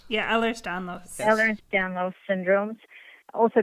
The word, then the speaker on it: Ehlers-Danlos: This can include a number of different things, connective tissue disorders like I don't know how to pronounce this. Ehlers-Danlos. Yeah, Ehlers-Danlos.